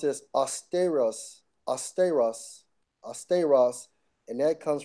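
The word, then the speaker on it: αὐστηρός: Austeros. Austeros. it's actually pronounced as austeros, austeros, austeros, and that comes from the Strong's G 840.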